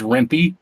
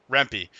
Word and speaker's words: Rempe: how'd i do uh the e is definitely pronounced okay so what is it it's rimpy rempe so i've been absolutely